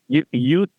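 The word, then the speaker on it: jus: So what you're saying then, when it comes to use, I know use is spelled J-U-S. Yep. But is it solely S-O-L-I? Yeah. Use the J would get a Y pronunciation in the Latin. So use solely.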